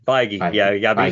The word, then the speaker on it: Feige: Could it all be Feige? Feige.